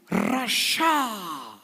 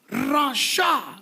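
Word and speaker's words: רשע: துஷ்டயா කියන වචනය துன்மார்க்கன் என்று இங்கே சொல்லப்படுகிற பதம் Rasha. Rasha. The word for wicked or ungodly is Rasha, spelt with Resh, Shin and Ain.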